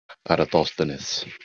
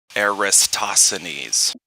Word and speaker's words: Eratosthenes: for uh several years you said it just fine sir parathostanis if you want to put the accent on you know it's if my accent is right um i know a lot of very smart people that pronounce it wrong they say aristocines yeah something like that and it's there's thingies